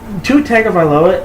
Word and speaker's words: Tua Tagovailoa: It's going to be him or Tua Tagovailoa. Yeah. Also, which Tua Tagovailoa isn't as hard to pronounce as you think. It's pronounced exactly how it's spelled.